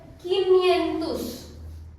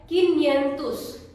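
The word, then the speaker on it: quinhentos: 500 को हम कहते हैं quinhentus, quinhentus. इसका उच्चारण थोड़ा सा अलग है, तो मैंने आपके लिए हिंदी में भी लिख रखा है किन्यंतुस, किन्यंतुस।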